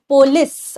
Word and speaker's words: polis: city states known as polis or polis. Polis ही actually this is the right pronunciation.